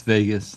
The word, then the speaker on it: Vegas: It's Vegas like Las Vegas.